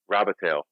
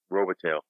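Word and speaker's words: Robitaille: In French, it's pronounced one way. In English, it's pronounced another. Robitel. Okay. Robitel.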